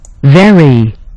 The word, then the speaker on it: very: Very. You see? Very. Very. Okay, so the V is going to be different from the F sound that we just pronounced with ferry, okay?